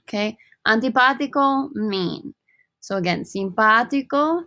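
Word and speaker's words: simpático: antipathico mean so again simpatico notice the stress on the ah here right i gotta pronounce that strongly simpatico simpatica nice versus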